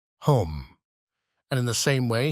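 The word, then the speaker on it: homme: bark he learned from Danno that it was pronounced home and in the same way he was taught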